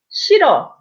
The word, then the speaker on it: 싫어: 싫어. So you see the 히읗. So when an 이응 follows, you don't pronounce 흐, right?